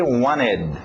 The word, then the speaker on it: wanted: Diga aquele ED, wanted, ok? Pronúncia rápida, tira o T, wanted, wanted, wanted.